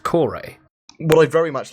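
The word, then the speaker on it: Kore: been taken from that and therefore it would be pronounced the Reliant core a well I very much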